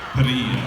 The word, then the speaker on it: Parrilla: Can you roll your R's? Parrilla.